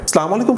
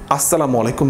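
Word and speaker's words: السلام عليكم: সালাম আলাইকুম শব্দের আরবিতে কোনো অর্থই দাঁড়ায় না। আসসালামু আলাইকুম মানে আপনার উপর শান্তি বর্ষিত হোক।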